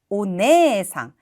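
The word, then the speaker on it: お姉さん: 상도 이렇게 붙게 되면 이때는 네라고 발음하게 돼요 오네상 그럼 뜻이 어떻게 될까요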